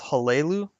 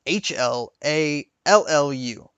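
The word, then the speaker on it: Hlaalu: And as you leveled up and ranked up in the house, I always chose House Halelu. That's the way I always pronounced it. It's pronounced Hallallu.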